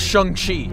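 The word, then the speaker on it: Shang-Chi: tried helping saying tea first of all it's pronounced Shang Chi and second of all that's not shung Chi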